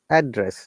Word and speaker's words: address: our learners and remember that and when you're pronouncing what stress look this one noun or adjective we stress on the fast part address like hey i knew what's your address or hey rahat what's your address so you're